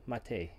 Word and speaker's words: Matej: It's spelt Matej, but it's pronounced Matej, correct? Yes, correct.